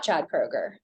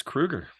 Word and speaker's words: Kroeger: wrong so it's not Chad Kroger it's Kruger Chad Krueger it is actually Kruger yeah I would bet